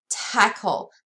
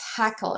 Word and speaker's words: Takl: I want to show you guys is called tackle this is how you spell it takl is that takl comm and it's called tackle or how you pronounce it is tackle so